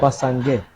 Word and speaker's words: Bassa Nge: And since we are talking about Bassange, I saw that you are pronouncing the name with some difficulties. Bassange. It's just easy, it's just simple.